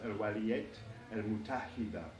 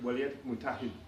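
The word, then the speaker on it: الولايات المتحدة: then the United States, in classical Arabic, the United States would be pronounced al-waliyat al-mutahida. Al-waliyat al-mutahida. But in the Lebanese dialect, it often sounds like waliyat mutahid. Waliyat mutahid. They eat the tamabute at the end.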